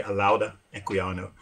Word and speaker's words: Olaudah Equiano: I mean, Olaudah Equiano or Olaudah Equiano, depends on who's pronouncing it. I'm not actually from West Africa, so I could be pronouncing it wrong, but most people say Olaudah Equiano.